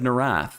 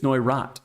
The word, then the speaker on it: Neurath: Last week I said Neurath, and I said I'm going to learn how to say this. I learned it's Neurath mono, and it's actually named